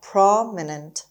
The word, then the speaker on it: prominent: swallowing prominent prominent prominent the stress is on pay on the first syllable and all here is long a prominent prominent it means well-known